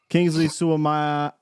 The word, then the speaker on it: Kingsley Suamataia: Kingsley Suamataia.